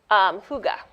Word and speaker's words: Hygge: So the last word is ambiance, and then I don't know how to pronounce this. Hygge. Huga, Really? Okay.